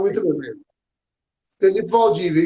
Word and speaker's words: Felipe Valdivia: Felipe Valdívia, E- isso.